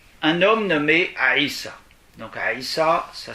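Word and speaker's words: عيسى: du corps d'abord un homme nommé haïssent donc aïssa ça s'écrit une apostrophe y est ça la première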